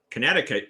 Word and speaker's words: Connecticut: connect and of course when you pronounce it connecticut you don't hear the connect part but when you see